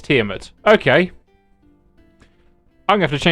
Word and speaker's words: Tiamat: Always said Tiamat. Okay, so Bones says the same as me, but it's Tiamat.